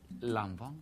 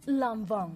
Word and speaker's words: Lanvin: Por favor, pronuncia, ¿cómo es que se dice? Lanvin. Lanvin.